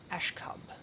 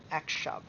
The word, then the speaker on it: Akshub: of seductresses, the Priestess Akshub. No, Akshub. It's one of those words, I read it wrong the very first time I ever read it, and